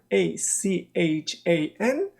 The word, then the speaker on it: Strachan: Number 4 is Strawn Avenue, Strachan.